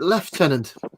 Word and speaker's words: lieutenant: like to confuse everyone our rank is spelled exactly the same way as lieutenant but we choose to pronounce it leftenant well just enemies or